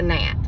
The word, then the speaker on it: gnat: And then she said, what's a gnat? I said, well, that is what I call it. But the G is silent. It's a gnat.